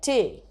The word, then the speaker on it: tea: is the word t during pope's time that was pronounced as something like tay so it rhymed with away so he might say